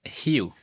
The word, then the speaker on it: Heu: In the US, it's Heu. Like the way it's spelled. Yes. In French, Okay. it's uh Oh, okay. Yes. And in Hmong, it's Her.